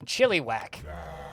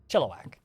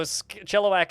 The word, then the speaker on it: Chilliwack: is convinced is pronounced chili whack which is how it's spelled but that's not how it's said chilliwack is still partially underwater